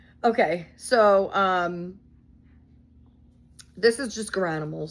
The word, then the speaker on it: Garanimals: the purple, but it's Garanimals, so some people pronounce it differently. Geranimals, I think.